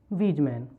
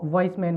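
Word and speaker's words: Weismann: और समसूत्री विभाजन होता हुआ किसने देखा था, तो सबसे पहले समसूत्री विभाजन को देखने वाले थे वीजमैन। कहीं कहीं आपको वॉइसमैन भी लिखा दिखाएगा, है ना, इसकी स्पेलिंग कुछ इस तरह की होती है।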